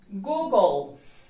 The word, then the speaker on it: Google: suenan como tú y vamos entonces a suprimir en la pronunciación light del final nos quedan la g y la l en medio de estas dos consonantes también agregaremos la letra o en la pronunciación nos queda entonces google goog el ángulo que se escribe